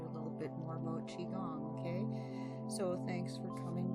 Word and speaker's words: qigong: And if you want to look up some information on it, it is spelled Qi-Gong, but it's pronounced Qigong.